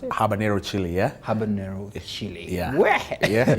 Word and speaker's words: habanero: just picked one of it here it's called habanero yes that's how you pronounce it habanero chili yeah habanero chili yeah in the office